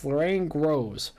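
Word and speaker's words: Lorraine Grohs: Her last name is spelled Grohs. Lorraine Gross.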